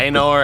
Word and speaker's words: Anor: Anor? Is that how you say it, Andy? Yeah, Anor, and then the flame of Udun.